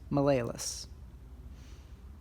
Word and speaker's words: malleolus: This one, which is part of the tibia, is known as the medial malleolus, sometimes pronounced malleolus.